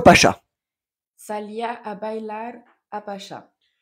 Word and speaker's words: Pacha: Salía a bailar a Pacha. Pacha. C'est la tché. Il n'y a pas d'accent. Pacha.